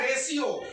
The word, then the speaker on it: ratio: अब हम पढ़ते हैं रेशियो, यहाँ देखिए हम लिखते हैं रेशियो, RATIO, इसको क्या पढ़ेंगे जी? रेशियो। तो रेटियो क्यों नहीं पढ़ सकते हैं? नहीं पढ़ेंगे, गलत होगा मेरा प्रोनाउंसिएशन।